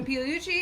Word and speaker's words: Pigliucci: i yeah the la that is pronounced the g is almost silent the gl sound yeah yeah it's almost impossible for americans so go silent yeah yep that's great yeah okay uh massimo piluchi you are um at